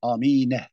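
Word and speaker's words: آمين: Amine tabii. Bu böyle okunuyor. Diyor ki amin. Tabii amine. Bunu fethalı.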